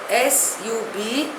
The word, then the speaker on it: sub judice: The 40th word in my list is sub judice. Spelling is S-U-B-J-U-D-I-C-E. Pronunciation is sub judice. It is a Latin word.